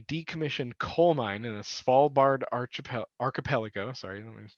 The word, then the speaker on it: Svalbard: It is located in a decommissioned coal mine in the Svalbard archipelago. Sorry, let me pronounce that correct. The Svalbard archipelago, by the way, it's close to the North Pole.